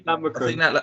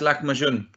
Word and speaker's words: lahmacun: How do you say lamokun? I think that's lahmacun. Lahmacun, there you go.